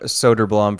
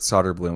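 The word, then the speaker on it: Söderblom: Elmer Soderblum versus Arvid Solder Bloom. I remember John Short House saying this on the broadcast once. They are brothers, but their names are pronounced differently. their last names like Arvid Solderbloom, Elmer Soderblum.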